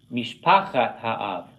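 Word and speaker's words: משפחת האב: But you could put it in construct, mishpachat ha'av. See how I did the accent? I'm accenting where he has it in blue because that's where it doesn't fall in the last syllable.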